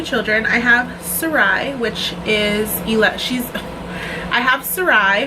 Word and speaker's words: Sarai: It's spelled S-A-R-A-I. In Spanish it's pronounced Sarai, but I think Sarai is S-A-R-A-H-I.